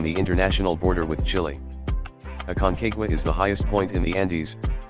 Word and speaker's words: Aconcagua: hundred and sixty-two meters the Spanish pronunciation of the mount is aconcagua with a summit elevation